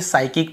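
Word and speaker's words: psychic: सी यहां पर भी हम देखिए साइकिक पढ़ते हैं पी को यहां पर भी नहीं पढ़ते यदि एस के पहले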